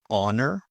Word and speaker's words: honor: Silent h. Normally you find this in French words. For example, honest or honor, hour, ghost.